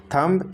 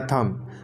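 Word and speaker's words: thumb: Guys last में, अच्छा इसे क्या आप कहते हैं, थंब या थम? तो इसका सही उच्चारण है थम. आपको बोलना है ओनली थम, ना कि थम.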